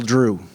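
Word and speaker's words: Dru: little Drew. Little Drew, D-R-U, 3 letters, 1 syllable, just like Happen Ace.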